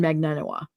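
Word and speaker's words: Magbanua: There's a B in there. Magnan Bua Bua. Um the way that I've heard it said is Katherine Magnanoa.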